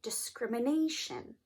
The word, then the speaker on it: discrimination: Well, you stress the syllable right before the ending, right before the suffix, and that would be the "a," so it would sound like, repeat after me, discrimination.